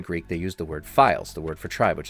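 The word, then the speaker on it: phyles: subdivided into five files the word files is spelled p-h-y-l-e-s it's a Greek word for tribe the Egyptian word is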